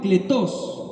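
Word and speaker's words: κλητός: primer versículo que leímos llamados se pronunciaba cletos que significaba invitado pero en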